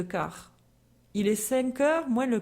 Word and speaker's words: quart: est 5h moin le/4 attention de ne pas prononcer le T de quart il est 5h moins